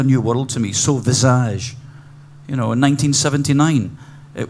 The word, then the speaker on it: Visage: just realized I I I pronounced the band with the American pronunciation Visage by the way uh speaking